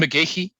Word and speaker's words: McGeachy: Cameron McGeachy is his name, and I just checked the pronunciation with him before we started because I've wondered for a couple of years what the correct pronunciation was. But that it is actually.